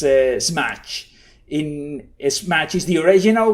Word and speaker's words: SMACH: I pronounce it in Spanish way, but it's SMACH.